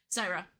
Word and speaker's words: Syra: How do you say her name? Syra.